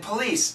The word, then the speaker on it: police: very similar to please please has a z sound police has an S sound please police please police